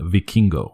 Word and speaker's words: Vikingo: The reason I chose this is because I think this Hijo del, it's Vikingo, but they pronounce it a cool way. They pronounce it Vikingo, so it doesn't sound stupid.